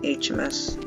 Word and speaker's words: Heamus: That's how you pronounce his name, HMS.